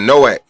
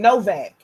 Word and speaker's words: Noak: We be saying Noak. And everybody running around here been saying Novak. I done seen like 5 people type Novak. It's Noak. It's Noak. Yeah.